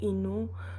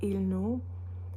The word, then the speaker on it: Innu: Les communautés qui sont plus à l'ouest vont utiliser la lettre L pour parler au lieu du N, par exemple, dans le mot Innu. Eux autres, ils vont dire Ilnu.